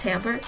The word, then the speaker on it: timbre: timbre and volume i finally looked up house pronounced timbre you can just hear how much passion and